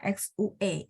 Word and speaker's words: 学: 学，学， Ah, nada satu, Bu. Jangan turun.